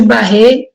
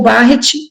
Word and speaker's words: Barrett: na aula também chamada esôfago de Barrett ou barrete depende da pronúncia e que pode levar